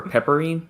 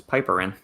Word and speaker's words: piperine: Standardized for pepperine. It's piperine, not pepperine.